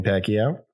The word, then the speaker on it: Pacquiao: Manny Pacquiao. That is proper proper pronunciation.